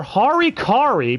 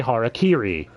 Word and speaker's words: harakiri: Or harikari, because ADV doesn't know how to say harakiri.